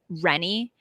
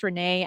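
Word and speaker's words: René: Yeah, because one has the female usually has two E's at the end, and the male version is pronounced like Rennie. Usually it can also be pronounced Renee as well.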